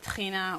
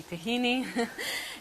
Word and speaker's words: tahina: I think they put, we call it tahina, or as Americans say, tahini, in the hummus.